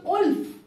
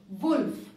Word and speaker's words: wolf: should be wood wood similarly it becomes olf whereas it is wolf so that is what